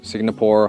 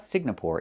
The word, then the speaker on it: Singapore: It's not Singapore. It's Singapore. The NG makes a sound M in your nose. Sing like when you sing a song together. Singapore. Not Singapore, but Singapore.